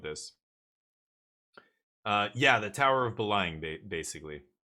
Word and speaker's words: Belém: Yeah, the Tower of Beleng, basically. Portuguese spelling is so... It's weird. Belém, that's what it looks like, but it's Belém.